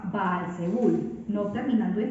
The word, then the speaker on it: Baal-Zebul: En filisteo, este dios se pronunciaba Baal-Zebul, no terminando en D, sino con N, y significaba Señor exaltado.